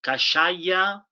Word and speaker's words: Kashaya: will forward this donation to the um cash kashaya band of pomo indians in santa rosa is this the right pronunciation steve yes cashier got shia they will